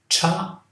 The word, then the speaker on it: chocolate: Aqui eu tenho 2 sílabas. Chocolate. Chocolate.